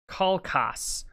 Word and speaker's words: Kalchas: Kalchas is Kalkas, prophet of the Greeks, son of Thestor.